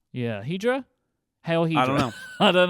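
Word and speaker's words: Hidra: Except it's spelled with an I, so it's like Hydra? Yeah. Hydra?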